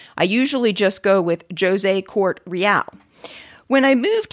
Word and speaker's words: José: As I am Portuguese, my name is pronounced with a hard J, so it is José. You can probably imagine how many times I've had to explain why my name is not pronounced José.